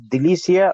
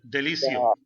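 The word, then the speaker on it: délicieux: Yeah, I wanted to ask actually if it is Delicia or Delicio. Which one? Delicio. Delicio.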